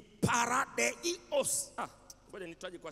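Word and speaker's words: παράδεισος: Neno au maneno ya kiyunani ambayo yanasimama badala ya neno peponi ni neno paradiso ni kutamkia vile linavyotamkwa kwa kiyunani ni paradeos ah ngoja nitaje kwa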